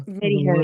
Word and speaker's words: MediHerb: I know they have a Mediherb, alliance. yeah. No, it's MediHerb. Don't pronounce the H.